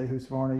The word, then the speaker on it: Husqvarna: One thing about old Husqvarna, I like, people always whine when I say Husqvarna, even though that's proper. Husqvarna. So I try to change my cadence or my pronunciation to make them happy.